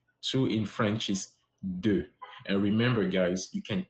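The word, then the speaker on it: deux: Joe get that right so in French is do and remember guys you can take note or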